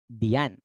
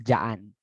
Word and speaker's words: diyan: Okay, in saying dyan, diyan, diyan. Okay. How do you pronounce this one again? Diyan. Okay, but in the faster way, you will say dyan, dyan.